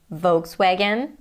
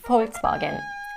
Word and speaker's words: Volkswagen: But I know that in German a V is pronounced as an F and a W is pronounced as an English V.